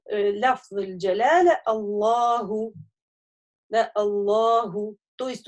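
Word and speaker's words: الله: Не алляху, а Аллаху. Вот.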